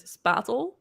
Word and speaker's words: spatel: So the way that I would pronounce it is spatel.